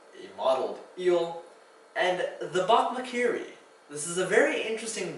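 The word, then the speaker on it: bokmakierie: K-I-E-R-I-E, but also because the name of this bird is actually onomatopoeic. If you look up a video of the bokmakiri, you'll find that it actually makes a call that sounds like bokmakiri.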